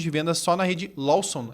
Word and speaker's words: Lawson: de 6.000 pontos de venda só na rede Lawson. É assim que pronuncia isso.